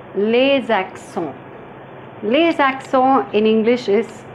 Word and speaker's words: les accents: Les accents, pronounced as les accents.